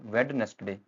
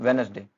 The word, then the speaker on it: Wednesday: इसमें फर्स्ट जो डी होता है वो साइलेंट होता है। यह डी साइलेंट होता है। इसमें हम बोलते हैं वेडनेसडे। इट्स वेडनेसडे।